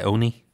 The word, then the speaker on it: ONI: Oh, they just pronounced it Oni in the audiobook.